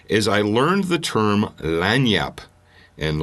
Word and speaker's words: lagniappe: I learned the term land yup and land Yap is actually spelled like lasagna its l AG in ia PPE and you're like what